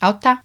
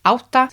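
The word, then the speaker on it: átta: Auta. Auta. Sounds like Otto. Auta. That's all right. I'm not saying I'd necessarily go yet automatically, but it sounds reasonable. Auta.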